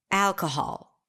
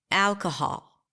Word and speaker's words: alcohol: or stomp your foot when you say the word alcohol do it with me alcohol on what syllable did you clap nod your head snap your fingers the first syllable right al al if not then you